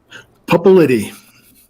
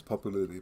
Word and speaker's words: Pupulidy: on the pronunciation of your last name publicity so she was close popularity but not right there okay all righty so